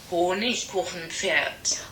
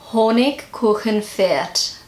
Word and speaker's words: Honigkuchenpferd: And this word is Honigkuchenpferd. I probably completely butchered that. So this is how Google pronounces it. Honigkuchenpferd. Honigkuchenpferd.